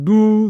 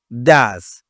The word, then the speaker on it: does: bien reccruter ici c'est Dou Dou ici c'est pas 12 ici la prononciation c'est do je répète does alors I do you